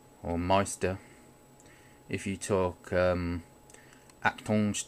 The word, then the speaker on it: Meister: I don't know if I can it says mister or Meister if you talk at punch diner language you'll know that more you know how it's supposed to be pronounced so that's Meister work is huge so they um I've noticed